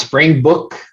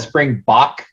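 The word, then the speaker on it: Springbok: south africa right or africa yeah that's that's pronounced spring book i've i've heard i said it's called spring bach but it's pronounced book okay so what are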